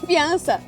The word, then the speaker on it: fiança: It sounds like fiancé. Noivi! No, fiança.